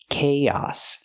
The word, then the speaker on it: chaos: remember the word chaos the pronunciation it doesn't match the spelling Kos use the ck sound like Cake Plus the long a k and then the a sound like hot and stop chaos we link the two